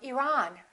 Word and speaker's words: Iran: It should be the second one. He's from Iran. He's from Iran.